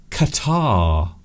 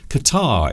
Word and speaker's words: catarrh: that is something called catarrh. Qatar. Now, not the country, not the Arabian country, but this is spelt differently, even though it is pronounced very similar to it. Qatar is a very unusual